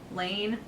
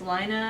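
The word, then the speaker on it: Laine: the is it lino Lane Lane Lane people we're saying it wrong it's lino I think the lineup people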